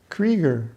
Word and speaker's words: Creager: And when I come back for succeeding pilgrimages, she'd say, "Creager, rhymes with trigger."